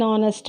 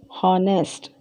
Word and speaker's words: honest: use a consonant but when we pronounce it we never pronounce the full sound of H so we never use H as a pronouncing sound and honor and are an honest man so in here